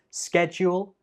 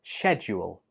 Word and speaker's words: schedule: Number 26 has two acceptable pronunciations. It can be pronounced as schedule or schedule. In British English, schedule and schedule are both commonly used. In American English, schedule is the most commonly used one, but you can